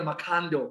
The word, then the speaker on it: Machando: Now this man, Elder Machando. I like how Leander pronounces his name. It's Elder Macando, right?